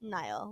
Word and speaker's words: Niall: Niall, like the river.